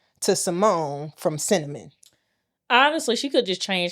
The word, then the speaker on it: Synnamin: Honest to God, she named her spelled Synnamin, pronounced Synnamin.